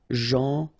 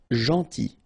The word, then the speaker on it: gentil: Gentil. So it's a strange one because here this final L is not pronounced. Okay? Gentil. Gentil.